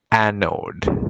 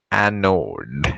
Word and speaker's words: anode: would make this the anode pronounce it again anode do you see anode